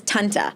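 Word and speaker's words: tante: And how's it pronounced in Dutch again? Her name? Like aunt. Oh, aunt. Aunt is Tanta.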